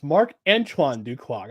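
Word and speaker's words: Marc-Antoine Dequoy: Mark Mark I keep I keep getting his name wrong it's Mark Anan duog I keep thinking of Mark Andre I keep thinking of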